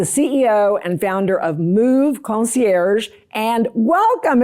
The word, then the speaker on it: Concier: Is it move concier or move concierge? How do you say it?" I just say it concier with a little bit of a Texas accent, but it's funny.